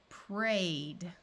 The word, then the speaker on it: prayed: AY says A. Played, prayed. OY says oi, toyed. Again, if the word ends in any of these sounds, ED is going to be pronounced as D.